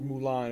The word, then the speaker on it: Mulan: ones it's slightly different but her name is pronounced Mulan according to English dub so they pretty much